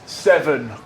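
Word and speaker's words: Severn: It's Seven Gold. Like the river? Like the river Seven. Like the number seven. It's just pronounced the same, spelled different.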